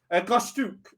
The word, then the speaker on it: Goshtuk: Goshtuk, sorry, double O sound, but it's spelled U because Lolly's weird.